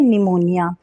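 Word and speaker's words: pneumonia: हमारा के अल्फाबेट है पी पर पी जो होगा हमारा इस डिजीज में वो रहेगा साइलेंट बिकॉज डिजीज का नाम है निमोनिया ठीक है निमोनिया है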